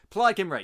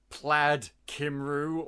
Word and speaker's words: Plaid Cymru: Oh, Plaid Cymru. Plaid Kimray, yeah. And we always thought that it was called like Plaid Kimru or something like that. It's like no. This is how you say it.